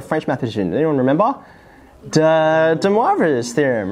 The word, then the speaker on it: de Moivre: named after a french mathematician anyone remember the de moivre's theorem right very good and you pronounced it right i'm so pleased though some